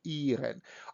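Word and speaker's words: -ieren: We pronounce it in German like iren, I-E-R-E-N.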